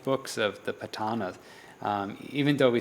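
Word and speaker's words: Paṭṭhāna: And the Patana is, the proper pronunciation is Patana, and this is a detailed analysis of conditional relations and of mind and matter.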